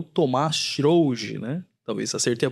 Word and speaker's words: Thomaz Srougi: O convidado de hoje nosso é o Tomás Schrouge, né? Talvez acertei a pronúncia?